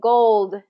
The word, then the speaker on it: gold: an interesting one because goal and gold we have to make sure are different because the only difference is gold has the D sound at the end and goal doesn't Okay so who will